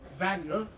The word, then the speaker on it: Wagner: spouse's servant Wagner or Vagner. You want to pronounce it Wagner because that's a German character and the W is pronounced vag.